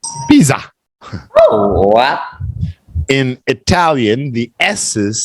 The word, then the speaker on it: Pisa: here with an S this is actually pronounced with a zed Pizza in Italian the s's